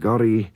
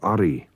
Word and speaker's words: Gorry: Now, when you get the two G's together in King Gorry, one of them has to disappear, and Gorry is the correct name for Ori.